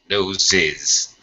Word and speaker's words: noses: okay Oxanna no noes noses right col noes nose it's two Z Sounds in nose nose has a z sound nose that's it now